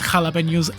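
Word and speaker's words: jalapeños: It's jalapenos.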